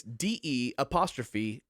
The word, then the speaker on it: De'Ath: Can you spell that just so I can understand the noise you're making? It's DE'Ath.